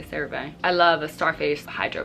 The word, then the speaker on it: CeraVe: I know people pronounce it CeraVe, I say CeraVe.